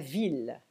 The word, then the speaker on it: ville: Quand vous avez I suivi de 2 L, soit on prononce I, soit il. Par exemple, la fille, la famille, mais la ville, 1000.